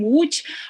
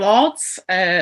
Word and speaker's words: Łódź: I am genealogist, actually, living in Zduńska Wola, which is located 50 kilometers to the west from Łódź, or Lodz, some people pronunciate.